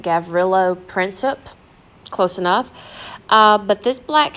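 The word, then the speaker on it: Gavrilo Princip: who actually killed him his name I believe you pronounce it gavrillo princip close enough but this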